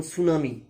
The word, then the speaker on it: tsunami: যেমন সুনামি, TSUNAMI, ওখানে টি এর উচ্চারণটা কিন্তু আসছে না, এস এর উচ্চারণটাই আসছে।